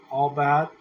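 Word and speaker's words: עבד: Now, dress that we see in the King James Version here, it comes from a primitive root word in Hebrew pronounced albad, meaning to work.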